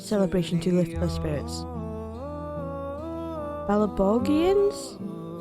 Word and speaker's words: Belobogians: Belobogians? I keep wanting to say it with a soft G.